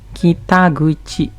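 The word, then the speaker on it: 北口: Dan sama kayak tadi, kita tempel sama kandi guchi. Kita guchi. Pintu utara.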